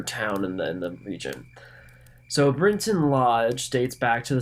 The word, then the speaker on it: Brinton: And for anyone who might be curious, it's not actually spelled Britain. It's Brinton. So Brinton is probably the proper pronunciation, but I'm probably not going to be able to stick to that.